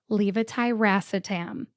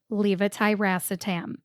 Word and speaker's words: levetiracetam: The fourth syllable, ra, R-A, gets the primary emphasis. Emphasize le, but stress ra more than le. It sounds like this. Levetiracetam. Levetiracetam.